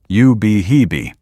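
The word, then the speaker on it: Ubehebe: It is pronounced you behee.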